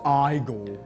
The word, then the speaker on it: Igor: It's pronounced Igor.